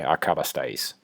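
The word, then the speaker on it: acabasteis: Just slow it down, work your way through it, syllable by syllable. So a, ca, ba, stai, is. Okay, acabastais.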